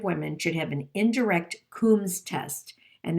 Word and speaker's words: Coombs: should have an indirect coombs test and that combs is spelled like a comb only it's got an extra o it's c-o-o-m b is in boy s and i'm sure that